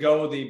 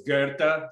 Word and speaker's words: Goethe: It's by the like the author, and everyone pronounces it Goethe, but it's Goethe.